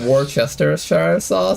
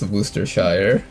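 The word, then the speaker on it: Worcestershire: Sir, I've heard it pronounced Warchester and I've also heard it pronounced Worooster Shire. Danker says it's Wooershire. It's not our fault the Brits decided that half name isn't worth saying.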